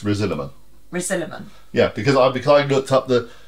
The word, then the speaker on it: Risalamande: I'll be talking your sound how do we pronounce this it looks like rosilla Monde right but it's not no it's resilament resiliman yeah because I because I looked up